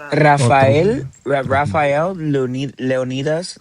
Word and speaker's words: Leonidas: Raphael Leon Leonidas like Leonitis.